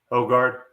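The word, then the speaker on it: Højgaard: How do I pronounce Yeah. Roes? Ogard.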